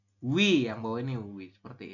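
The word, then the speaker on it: ㅟ: Dibaca wi. Hah? Wi. Wi, oke betul ya. Ini ada vokal U ya, vokal U di awal ditambah dengan vokal I, maka kita membacanya adalah wi, teman-teman.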